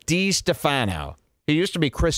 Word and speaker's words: DiStefano: It's pronounced D-Stefano. DiStefano.